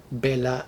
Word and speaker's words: Bela: The first one is titled Bela, and I'm going to go with the English pronunciation here for the title of this story, at least.